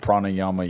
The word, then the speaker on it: pranayama: And it's like they have the whole thing called pranayama yoga. I believe is how it's pronounced.